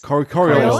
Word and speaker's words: Coriolis: session of, I am going to probably horribly pronounce this, but Coriolis? Yeah. Coriolis? Coriolis, that's it.